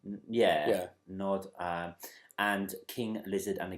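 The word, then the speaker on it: Gnod: But one by a band called Goddamn, another by a band called Nod, or it's G-N-O-D, and I think it's pronounced Nod. Like Gnome. Yeah. Nod, and King Lizard and the Gizzard Wizard.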